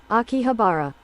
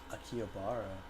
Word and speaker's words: Akihabara: titled Girl Genius Gives Lecture in Akihabara or Akiabara. Is it Akihabara or Akiabar? How do I pronounce that actually? Let me look that up real quick. Got to make sure that I'm accurate. Uh, pronunciation. Akihabara. Akihabara.